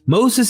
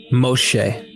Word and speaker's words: Moshe: First, Moses is not how to pronounce the name of the Hebrew liberator. Instead, his name is pronounced as Moshe. Notice the sh sound in his name. That is not found in the names of Ahmose or Ramesses, which have an s sound.